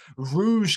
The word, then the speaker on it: Rouge: of Static Dress, and it is Rouge Carpet Disaster, not Rogue Carpet Disaster, as I spent weeks saying in my head, and then I spent ages training myself to say it properly.